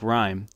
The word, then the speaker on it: RYM: main goal of storms R ym pronounced like rhyme work group was to